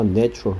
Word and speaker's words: natural: A의 발음이 자연이란 명사할 때는 nature였고요. 형용사 natural 할 때는 에 발음이었습니다. nature, natural 발음 주의하라 했고요.